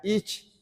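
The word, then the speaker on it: אִישׁ: a la persona es otra palabra y se pronuncia ich, una i, una s y una ch, una ich.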